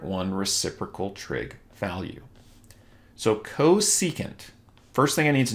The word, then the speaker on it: cosecant: So we have cosecant, labeled CSC for short, but pronounced cosecant, is the reciprocal of sine, 1 over sine.